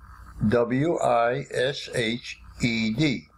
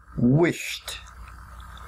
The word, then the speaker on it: wished: make it past tense we write WI SH Edie but we pronounce it wished wished wished C or